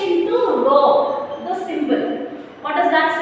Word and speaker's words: rho: So that we call it as rho, R-H-O or R-O-W for your pronunciation, right?